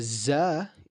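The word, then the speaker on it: ز: A za is very similar to a Z, right, in English. So a sin is like a S, a za is like a Z, okay?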